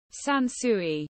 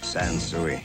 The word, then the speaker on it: Sansui: Сансуи. Сансуи. Сансуи. Сансуи. А теперь обратимся к историческим моментам и послушаем, как тогда произносилось ее название.